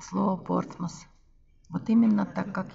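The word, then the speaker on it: Portsmouth: все знают а вот они говорят что надо произносить портсмут портсмут но ток так никто не произносит говорят порт масс английское произношение порт масс и никуда не деться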